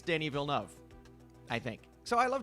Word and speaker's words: Denis Villeneuve: I went back and forth on so many different things, and I just looked it up, and I think it's Denis Villeneuve.